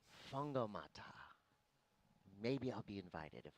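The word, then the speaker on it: Whangamatā: The WH Maori sounds like an F, so it's that's right. Fungomata.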